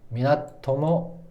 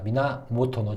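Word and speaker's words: 源: 최충원 미나토모 미나모토노 미나토모가 아니라 미나모토노 제가 발음이 좀 이게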